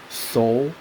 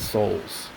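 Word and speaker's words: Seoul: in this place called soul um I believe it's spelled s-e-o-u-l if you take the E out you get soul right 149 casualties and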